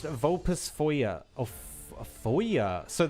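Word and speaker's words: Vulpisfoglia: It's pronounced vulpus foyer or foyer. So, the L and I are also kind of silent. They're like weirdly mixed together.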